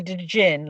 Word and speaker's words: Djinn: He said, he went, I said, yeah, Djinn, like that, pronouncing the D.